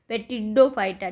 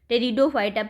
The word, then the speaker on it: टेरिडोफाइटा: होता है, Thallophyta, bryophyta, पेटिडोफाइटा। ठीक है, मतलब सॉरी टेरिडोफाइटा, पी साइलेंट होता है, तो थैलोफाइटा, ब्रायोफाइटा और टेरिडोफाइटा।